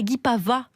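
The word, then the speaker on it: Guipavas: Son spectacle s'appelle Tant pis, c'est de l'humour et il joue à Guy Pavas On prononce pas le S.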